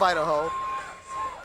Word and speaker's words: Aidahoe: comments interacting with you so his nickname is Idaho it's a family name that his parents gave to him um that's why no he's not from the state of Idaho it was a name that his mom gave